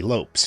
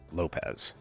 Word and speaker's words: Lopes: couple years ago, and a commenter got all pedantic about how it should be pronounced Lopez. They were just out there in the comments section like this. Lopez! Lopez! But Davey has talked about this and said that his family has always been Lopes and never Lopez. And apparently the name's Portuguese, and that's actually how it's pronounced more or less in Portuguese.